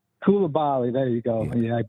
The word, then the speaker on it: Koulibaly: I like, how do you say Calaboy? I'm not sure how you say the French kid, Calaboy. Koulibaly. Koulibaly.